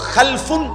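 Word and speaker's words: خَلَف: হয় আরবিতে একটা হল খালফুন আরেকটা হল খালাফুন একই শব্দ শুধু উচ্চারণের মধ্যে একটু ভিন্নতা মাঝখানে একটা লাম আছে এই লামটার মধ্যে যদি সাকিন হয় তাইলে হল খালফুন আর যদি লামের মধ্যে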